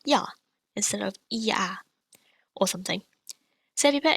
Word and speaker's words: iao: Next we have IAO. This is pronounced yao. If I put an M before it, I get meow. So it sounds like a cat's meow, doesn't it?